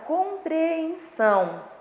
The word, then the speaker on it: compreensão: Então, nós temos aí a palavra compreensão. Compreensão. Percebe que o som é mais forte? Então, esse som aí é a sílaba tônica. Como essa sílaba ela vem essa sílaba tônica ela vem na última sílaba, então eu classifico essa sílaba aí como oxítona, tá?